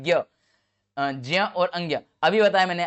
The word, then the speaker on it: ज्ञ: यानी कि विकल्प नंबर ए से होगा जिया, जिसका उच्चारण होता है जिया, जिया उच्चारण होता है इसका, याद ना।